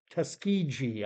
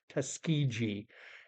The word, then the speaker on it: Tuskegee: I've spoken on this channel before about the infamous Tuskegee. I think I'm pronouncing it right.